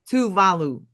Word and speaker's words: Tuvalu: because of the right what how do you say it? Touvalu. Touvalu. Okay. But because it's so lowlying and